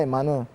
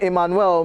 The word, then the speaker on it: Emmanuel: At I Young Blogger says, if the name Emmanuel, yeah, that's how to pronounce it right, because, yeah, it's not Emmanuel. If the name Emmanuel means God with us, then what's the meaning of Emmanuela?